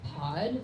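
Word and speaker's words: Paudh: So one of the characters' name is Patrick, and a nickname for Patrick is Pod, so P-A-U-D-H.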